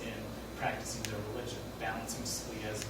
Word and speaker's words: Scalia: Scalia.